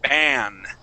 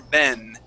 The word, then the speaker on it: ban: And that class, make sure that you pronounce that with an ah sound. So we're going to say ban. Ban. Okay, instead of saying ban Teacher. Or ben, it would Teacher. Be ban.